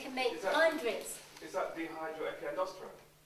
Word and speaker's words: dehydroepiandrosterone: Is that dehydroepiandrosterone? Pronounce it, sir.